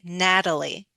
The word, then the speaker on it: Natalie: And just like we did a flap T with Peter, we we can change the T and Natalie and say Natalie.